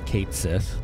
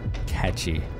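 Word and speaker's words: Cait Sith: one kitty but like unless you speak like Irish Gaelic or whatever right you wouldn't know it's like catchy I thought it was Kate Sith catchy what other ones are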